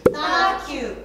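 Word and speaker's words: 따라큐: Okay, in Korean it's Tarakyu. Tarakyu. So what does the Tara mean? Actually, Tara means mimic. Oh, to mimic. Yeah, mimic in Korea is Tara, so Tarakyu.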